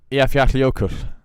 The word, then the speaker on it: Eyjafjallajökull: So the double L is like a cl. It's like an HL, I guess, or like halfway between an HL and a.